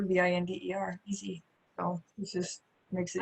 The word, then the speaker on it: Binder: And binder is like a 3-ring binder, Binder, easy.